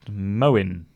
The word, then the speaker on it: Moin: clean by the way my name is pronounced Moen okay sorry Moen but